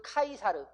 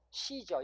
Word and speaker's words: Caesar: 그래서 원래 원지음은 카이사르. 원지음은 카이사르입니다. 그런데 이게 미국에서는 뭐라고 그래요? 카이사르라고 안 하고 시저.